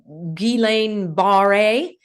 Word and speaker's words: Guillain-Barré: and I want to give you the correct pronunciation, the Guillain-Barré, which is a type of temporary paralysis.